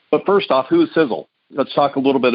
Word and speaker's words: Sisel: just a second but first off who is sizzle let's talk a little bit about who we